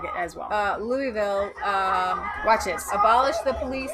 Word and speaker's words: Louisville: or anybody knew anything, Louisville had truckloads. You're not even saying it right now. It's Louisville. It's helpful to say Louisville so they know. It's the locals that say Louisville.